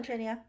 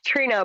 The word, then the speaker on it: Trina: thank you you're welcome trinia trina how do you say your name it's trina but it is doesn't have that extra eye in there thank you so it's